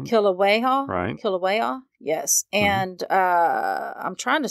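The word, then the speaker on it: Kīlauea: it that she resided in the crater of Kilauea. Uh-huh. How do you say that? Kilauea. Yeah. I keep forgetting how to say it. Kilauea.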